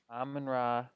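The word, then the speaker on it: Amon-Ra: Amon Ra Amon Ra.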